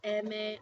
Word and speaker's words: eme: So if you see eme. I go over here and my eme is an m.